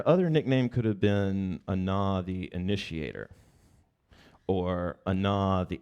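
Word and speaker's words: Ahna: So tonight's myth or the character of tonight's myth is a woman named Anna. Anna, you spell that A-H-N-A, Anna.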